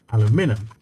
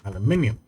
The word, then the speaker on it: aluminium: mostly the British Ray aluminum aluminum instead of aluminium so yeah my my main take is that it's the emphasis that's the main difference between aluminum and aluminium that I hardly makes